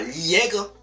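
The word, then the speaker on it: Liaigre: Alors attention les amis, petit aparté, c'est bien L-I-A-I-G-R-E, hein. Oui, parce que c'est pour ça que j'essaie de bien mettre l'intonation dans la façon de prononcer son nom de famille, parce qu'il y en a, ils vont croire que j'ai dit le mot interdit, que je ne dirai pas sur YouTube.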